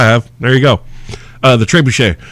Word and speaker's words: trebuchet: know that it's pronounced trebuchet but I used to with people and I would call it tree bucket because that's how it kind of looks it's spelled and they would just